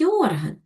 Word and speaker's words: орган: Орган. Правильно. Наголос падає на другий склад.